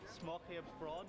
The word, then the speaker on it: smørrebrød: gonna need you to help me pronounce it again. Smørrebrød. Smørbrød here.